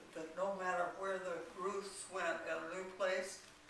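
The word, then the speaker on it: Routh: Some people pronounce it Ralph. It's R-O-U-T-H. But we called ourselves Ruth.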